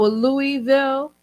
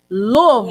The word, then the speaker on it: Louisville: It's not Louis. You have to almost swallow the word. Louisville. Louisville.